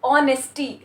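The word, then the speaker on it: honesty: इसमें भले ही आपका फ्रंट में एच लगा हो, इसमें हमारा फ्रंट में एच लगा हो, ठीक है, एच है, लेकिन इसका प्रोनाउंसिएशन हम लोग क्या कर रहे हैं, ऑनेस्टी, ऑनेस्टी। हम लोग प्रोनाउंस किससे कर रहे हैं, ओ से कर रहे हैं, राइट।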